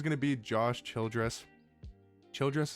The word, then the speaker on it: Childress: Childress is I think is how you say his last name.